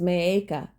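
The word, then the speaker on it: Maacah: reigned in Jerusalem three years his mother was Maka and I'm gonna check that pronunciation too all right here we go he reigned in Jerusalem three years his mother was meiika the granddaughter of Absalom he committed the same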